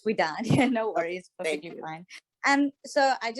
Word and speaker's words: Widad: Am I pronouncing your first name wrong incorrectly? I apologize. No problem. It's Widad.